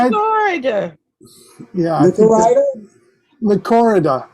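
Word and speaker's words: Lychorida: Lycorida. I think it's the emphasis on the first Lycorida. Lycorida, Dionysa.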